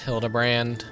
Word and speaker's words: Hildebrand: It's pronounced Hildabbrand.